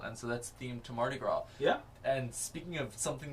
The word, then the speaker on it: Mardi Gras: up is a holiday where we live called Mardi Gras. And it's called that because Marty is touching grass. Good job, Marty. That's how it's spelled. You're not even pronouncing it right. Yeah, Mardi Gras.